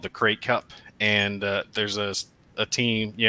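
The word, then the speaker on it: Krait: it your channel yes did you say the crate Cup like the crate dragon it's spelled K or a whitey create like a great dragon this is the fifth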